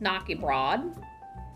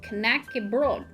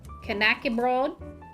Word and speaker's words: knäckebröd: that it's not pronounced nokia broad it's pronounced connected i believe i think in dialects they leave the d off completely and it's just like